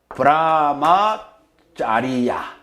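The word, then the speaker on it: brahmacariya: 빨리어로 브라마짜리야. 이 C를 짜로 발음해요. 빨리어에서는.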